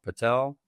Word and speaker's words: padel: I was not uh familiar with uh is it pronounced padell? Patel.